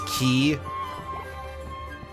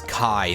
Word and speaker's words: chi: But also like I usually learned that as being pronounced as Kai, not key.